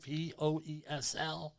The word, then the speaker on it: Poesl: Safety Wars, Poesel, Poesl. Not the other way, please. Easy to remember, all right? Poesl, but how do you say it? My favorite word is proposal.